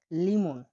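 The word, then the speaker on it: limon: পরবর্তী অক্ষরটি হলো এল, এল এর উচ্চারণ হয়ে থাকে ল এর মতো। উদাহরণ আমরা দেখছি, দেখুন, লিমন, লিমন, লিমন মানে হলো লেবু, লিমন মানে লেবু, লেবুকে বলা হয় লিমন, লিমন মানে লেবু।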